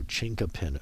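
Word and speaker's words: chinquapin: I ask you to look that up so chinka pin oak C H I said I wasn't going to spell it but I'm going to do it anyways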